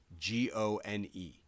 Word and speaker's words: Amigone: Yeah, and then there's also the funeral home that's named after the family who runs it, but their last name is spelled Amigone.